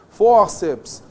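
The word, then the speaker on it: fórceps: Ó, forceps, tríceps, né? Essas palavras não são proparoxítonas, veja só, tríceps, forceps, elas são paroxítonas, nós temos apenas duas vogais aqui, duas sílabas, está vendo só?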